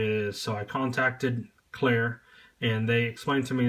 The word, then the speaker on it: Clerc: So I contacted CLERC, and they explained to me that the last C in the brand is silent.